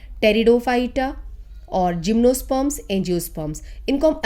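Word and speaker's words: Pteridophyta: सी plants होते हैं थैलोफाइटा, ब्रायोफाइटा, टेरिडोफाइटा, P silent रहता है बोलने में, टेरिडोफाइटा और जिम्नोस्पर्म्स, एंजियोस्पर्म्स।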